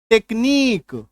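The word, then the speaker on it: technique: जैसे कि मान लीजिए टी ई सी एच एन आई क्यू यू ई तो यूई के पहले अगर क्यू है तो इसका उच्चारण देखिए क्या हो जाएगा टेक्नीक ठीक है टेक्नीक आ रही है बात समझ में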